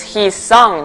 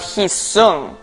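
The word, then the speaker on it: Hee-song: teachers for years now that my name is hee song not his but no teacher has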